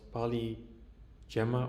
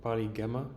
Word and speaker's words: PaliGemma: So recently Google released its new open vision language model called PaliGemma or PaliGemma, depending on how you prefer to pronounce it.